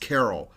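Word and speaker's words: Carell: me that Steve carrell's last name was pronounced Carol they corrected me over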